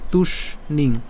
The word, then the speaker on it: তুষ্ণিং: একই রকমভাবে তুষ্ণিং, তাহলে তুষ, এই তুষ এবং হচ্ছে মূর্ধন্যর সাথে দীর্ঘিকার অনুস্বার, তাহলে তুষ্ণিং, হ্যাঁ, মুক্ত্বা তুষ্ণিং।